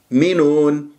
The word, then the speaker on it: يؤمنون: يؤمنون، المقطع الأول مينون مقطع الثاني، ولا تسحب ضمة الياء إلى الهمزة تقول يؤ، يعني تنطق الهمزة وأنت شفاه مضمومة متأثرة بضمة الياء.